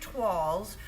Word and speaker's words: toile: Toile is a French word. It's fun to say it once you know how. Jean Howard was trying to write it as toilet. It's not pronounced that way. It's toile.